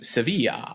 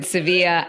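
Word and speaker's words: Sevilla: de espa I think the Spanish call it seevilla Seeva Joe do I have that better is that better than pistachio it is it is they do pronounce it seevilla I just felt kind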